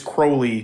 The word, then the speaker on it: Crowley: so it's supposed to it's Crowley trolling with holy that's where yeah vertebra